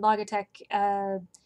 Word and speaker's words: Logitech: and that is the Logitech c920 that I'm talking about and incidentally I was recently told that I am pronouncing that wrong and it's actually logitech like logic and technology but considering that lately